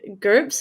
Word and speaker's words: GURPS: big success right i wanted to touch on groups is that how you say it yes the